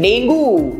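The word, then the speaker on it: dengue: गलत प्रोनाउंस करते हैं डेंगू यस इसको डेंगू नहीं बोलते हैं इसको हम बोलते हैं डेंगी सही सुना आप लोगों ने डेंगी right next next word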